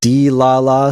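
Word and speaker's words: Dlala: D-La-La Studios?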